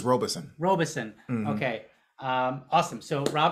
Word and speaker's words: Robison: I'm going to try not to say Robinson. It's Robison because it's spelled Rob is on. Like it's really Robison, but people get it confused with Robinson.